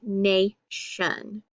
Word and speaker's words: nation: it's open behind it so it's going to be long and say nayshun very good all right